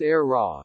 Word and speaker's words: AEHRA: no surprise perhaps given the era its pronounced era design team is headed